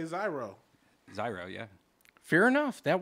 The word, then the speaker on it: gyro: That gyro has two main pronunciations. Euro. Euro and zero. So zero. Ain't none of y'all saying it right. No, euro is how most people say it. So I'm going to say zyro.